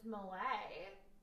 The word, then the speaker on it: Millet: Pronounced one way, it's a grain. Pronounced another, it's the French painter of The Gleaners. Who is Malay.